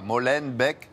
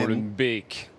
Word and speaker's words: Molenbeek: On ne dit pas Molenbeek, mais Molenbeek. Molenbeek.